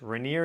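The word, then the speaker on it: Rainier: Mount Rainer or just Reneer is how you pronounce it.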